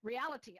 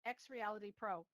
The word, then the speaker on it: XReality Pro: Reality. Oh, I'm saying it wrong. Sorry, my mother was in real estate for too long. XReality Pro. So XReality Pro. There, I'm going to say it right. XReality Pro.